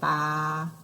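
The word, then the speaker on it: 八: this is our volcano pronunciation is sounds like the goat right ba right that's your number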